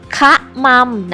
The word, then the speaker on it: คะมำ: ล้ม ขมำ เลย ค่ะ คะมำ นะ คะ อ่าน ว่า ค อะ คะ ม อำ มม คะมำ เด็ก ๆ ลอง ฝึก